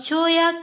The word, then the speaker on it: cholla: A cholla cactus has the most prickly spines. Children, look here. Cholla. Cholla. We pronounce the word cholla.